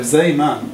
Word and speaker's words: Zeeman: Anyway, so effectively the Zeeman, I'll pronounce it in the Dutch way, the Zeeman effect is you get